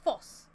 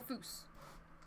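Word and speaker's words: vos: The first foss was perfect, so foss. Foos? Foss?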